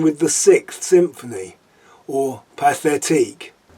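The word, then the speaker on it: Pathétique: the sixth symphony or pathetique i don't know why it was written by a russian but pronounced as in french but celebi tchaikovsky was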